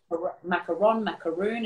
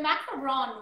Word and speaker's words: macaron: Because I think there's a lot of people that say macaroon, and I know there's a difference. So I'm wondering if you can kind of break that down for us. Yeah, so macaron, which is spelt with a 1-O, it's a different type